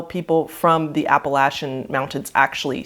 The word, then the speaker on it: Appalachian: a side note yes it is actually pronounced appalachian not appellation as many people pronounce it so i just want